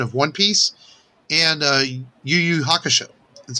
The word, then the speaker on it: YuYu Hakusho: live action version of one piece and uh yuyu hakusho that's how you say it very popular anime